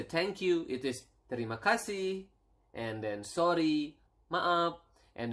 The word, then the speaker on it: terima kasih: It is terima kasih, and then sorry, maaf, and then we have